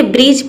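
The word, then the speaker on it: bridge: इसमें जो D letter रहता है ये साइलेंट रहता है, यानी कि हम D को प्रोनाउंस नहीं करते हैं। तो देखिए ब्रिज, ब्रिज का मतलब होता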